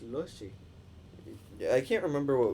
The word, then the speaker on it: Lotje: Logi? It's Lushy.